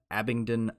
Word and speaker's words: Abingdon: it's a being done Abington I want to I my brain wants to throw a T in there but you're I think you're right yeah Abingdon ox Oxfordshire that's England